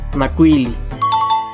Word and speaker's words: Macuilli: pero en realidad se pronuncia como una L sola. Por ejemplo, Macuilli, Macuili.